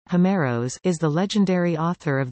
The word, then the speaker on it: Ὅμηρος: Homer, Ancient Greek, Homeros, Greek pronunciation, Homeros, Homeros, is the legendary author of the Iliad and